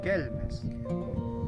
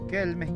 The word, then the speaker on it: Quilmes: cacam sí ampajango o kilmes que la palabra original se pronunciaba kelmes quelmes quiere decir un lugar